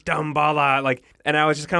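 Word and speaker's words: Damballa: It's not Dumbala, it's Dambala.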